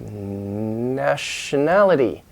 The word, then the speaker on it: nationality: Latin language nation National when you add more endings to make new words the vowels inside can change and also the stress can move over sometimes like nationality nationality now the main stress isn't it a nationality so the reversible dinesh nationality so you've got a second level stress and then the main level stress nationality nationality so English is